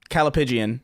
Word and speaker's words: callipygian: Callipygian is how it's pronounced.